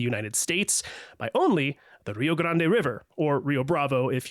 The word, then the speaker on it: Rio Grande: calls it the re they say the Rio Grand, but it's spelled Grande, so I feel like it should be called Rio Grande. But anyway, I thought it was Rio Grande.